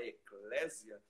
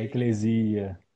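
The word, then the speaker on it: ἐκκλησία: Geralmente a gente fala eclésia, mas um grego foi que me disse que o correto era pronunciar É eclesia.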